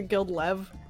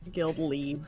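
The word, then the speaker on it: guildleve: and country you'll believe I always pronounced a guild love but because it feels better on the foot in the mouth but it's actually guilt leave it's got good mouthfeel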